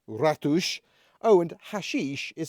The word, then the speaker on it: ratos: party is pronounced Festa ratos meaning mice is pronounced ratush oh and hashish is